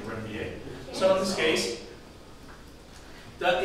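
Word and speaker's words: Ranvier: Now these gaps in between the Schwann cells are called nodes of Renier. Okay. What? Zach's going to have a new word rather than Renvier. Okay? I think French pronunciation is Renvier.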